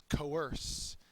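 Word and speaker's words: coerce: to do something uh it's a verb second syllable is accented um you the police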